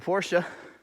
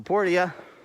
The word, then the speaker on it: Portia: But otherwise, recently I finally started playing My Time at Portia, or Portia, however you pronounce it. It's pronounced both ways in the game.